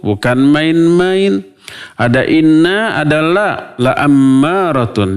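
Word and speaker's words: لَأَمَّارَةٌ: Ada inna, ada la ammaratun. Dibacanya la-nya pendek, bukan panjang. Kalau la-nya panjang, malah sebaliknya maknanya menjadi tidak. Kalau la pendek jadi pasti, kalau la panjang jadi tidak. Maka jangan salah baca.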